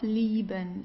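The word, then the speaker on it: lieben: Leben to love. liben. Okay. So you don't say liben or so it's liben.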